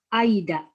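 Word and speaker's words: 間: Kanji ini dibaca apa nih ya? Nah, ini dibacanya Aida.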